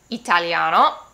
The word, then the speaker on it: italiano: is pronounced eh and i in italiano is pronounced e so we have italiano, inglese, or another example